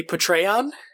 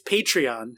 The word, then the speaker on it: Patreon: goodman for like weeks would say portray on and they would everyone just tweet it them be like it's patreon it's about saying it